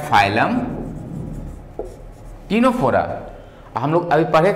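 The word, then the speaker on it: Ctenophora: टीनोफोरा सी silent है, सी को हम लोग प्रोनाउंस नहीं करते, हम लोग सीधे बोलते हैं क्या? टीनोफोरा।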